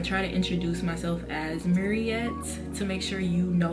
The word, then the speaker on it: Muriette: But now, for the most part, I try to introduce myself as Mariet to make sure you know how to pronounce my name for real.